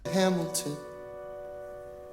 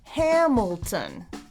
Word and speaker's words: Hamilton: Hamilton. My name is Alexander Hamilton. Hamilton. 3 syllables and the first one is stressed. Hamilton.